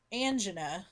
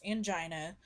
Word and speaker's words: angina: you think of is angina sometimes pronounced angina either way which is chest pain